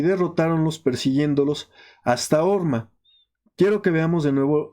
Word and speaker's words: Hor: El monte Hor, su pronunciación es Hor, es montaña.